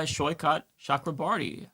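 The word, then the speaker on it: Saikat Chakrabarti: He is uh, Shyot Shakraarti. Uh, Sho, am I pronouncing your name correctly?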